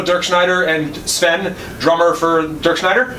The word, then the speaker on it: Dirkschneider: Is it pronounced Dirkschneider or Dirkschneider? I'm sorry. Dirkschneider.